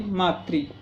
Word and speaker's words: मातृ: और उसके बाद ये मातृ, इसका सही उच्चारण मातृ है। मातृ हम बोल देते हैं, वो गलत है। ये ऋषि की मात्रा है नीचे। मातृभाषा होता है, मातृभाषा नहीं होता है।